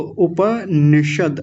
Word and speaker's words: उपनिषद: उप निषद देखिए द पर हलंत होता है यहां पे तो उपनिषद ऐसा बोलेंगे।